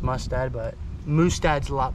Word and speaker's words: Mustad: now we're gonna do 30 swipes at the Moose dad that's not how you say the name it's pronounced mustad but Moose dad's a lot more fun to